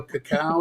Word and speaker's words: cacao: meditation, get some drumming done, a little sound bowl action, a little ceremonial cacao. Is that how you pronounce it?